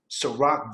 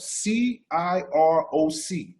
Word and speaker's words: Ciroc: So before people ever knew even how to pronounce Ciroc, think about the way it's spelled, C-I-R-O-C. Phonetically, it's Ciroc.